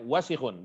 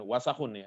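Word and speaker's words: واسخ: Bacanya wasikhun, bukan wasakhun ya. Beda.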